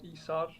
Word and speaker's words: Isar: It's Icelandic, so it's Isar. Isar, okay.